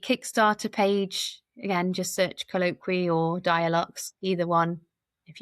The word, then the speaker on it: Colloqwee: So um the so my business name is colloqui uh comes from colloquial and like about speaking but it's as you'll